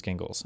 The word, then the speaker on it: Gingles: Thornberg versus gingles. Gingles. It is gingles.